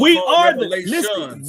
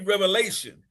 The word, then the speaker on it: Revelation: It's only Revelation. Revelation. Revelations. Oh, now you couldn't pronounce a word. Now you want to take a S and make it big.